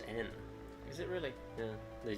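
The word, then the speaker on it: 円: well fun fact uh yeah in japanese is pronounced in is it really yeah they just don't have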